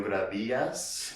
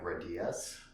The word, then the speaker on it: Gradias: my name is gravidas uh can you say that again what is it yes if you want to say it like in english i guess uh you can say gradius but um my co-host